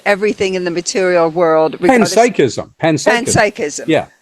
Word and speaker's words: panpsychism: Panpsychism. Yeah. Because it's from psychic, so it's panpsychism.